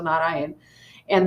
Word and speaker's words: Narayana: So it is not Narayanam, it is Na Ra Ya Na. So think there's four syllables: Na Ra Ya Na. Narayana.